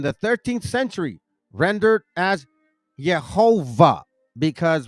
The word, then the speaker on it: Jehovah: 13th century rendered as yova because remember in German the W is V verman and it's a w Jehovah this form was then produced